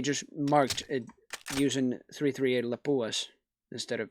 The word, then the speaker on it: Lapua: marked it using 338 Lapua instead of like five four sevens and I said lipu is even though I'm a fin myself I should say Lapua correct pronunciation but that's pretty much